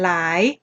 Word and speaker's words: หลาย: คะ คำ ว่า หลาย เรา ก็ ไม่ อ่าน หะ ละลาย หะ หลาย นะ คะ เรา อ่าน หลาย นะ คะ เพราะ ฉะนั้น พยัญชนะ